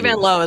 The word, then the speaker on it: Vanloo: It's Vanlow. Yeah, she said in her country, which is uh Belgium, it's pronounced the O is O. So, it's really Van Low, but she just let folk get away with it.